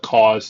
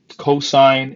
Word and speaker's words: cosine: over hypotenuse okay now please don't call it cause and sin cosine and sine don't be lazy say the extra extra syllable it's not going to